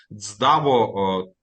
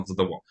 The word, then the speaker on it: ЦДАВО: говоримо про джерела комплектування даво теж До речі дякую Я сьогодні дякуючи пані Ларисі дізнався де ставити наголос тому що я ставив наголос на dво виявляється правильно говорити даво ставичи наголос на архіва Окей теж певне досягнення